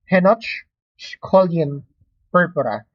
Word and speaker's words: Henoch-Schönlein purpura: There are some references or some dictions or pronunciations for this one. Henoch-Schönlein. Some doctors pronounce it as Henoch-Schönlein purpura. No? It's up to you how you will pronounce this one. At the end of the day, the best thing to remember is how you will spell it correct.